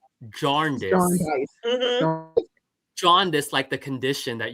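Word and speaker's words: Jarndyce: Yeah, that's what I kept saying and both audio book both audiobook narrators I had pronounced it the same way. They did not pronounce the R.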